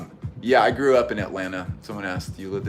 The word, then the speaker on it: Atlanta: real OG from the city you just say Atlanta and it's just at land no tea anyway so theory pants they're cool